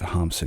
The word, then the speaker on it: Hamsun: pronounced hamson but I'm going to go with hamson because I think that's the pronunciation that Norwegians would use hamson was born